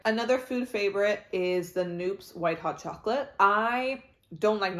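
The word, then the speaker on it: Knoops: We saw a Noops, and I think it's pronounced Noops.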